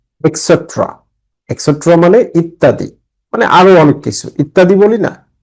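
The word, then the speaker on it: et cetera: For example, উদাহরণস্বরূপ, opposite বিপরীত, নেক্সট টু পাশে, নিয়ার কাছাকাছি, ইটিসি এটা পূর্ণ উচ্চারণ হচ্ছে এক্সেট্রা।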